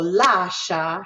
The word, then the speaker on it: lascia: So lascia happens to be a 2-syllable word that is divided right here, right? Lascia. And we know that la is going to carry the stress because they put the 1 here.